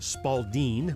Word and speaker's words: Spalding: ball preferably either a pink Spalding pronounced Spalding by those in the know or a blue handball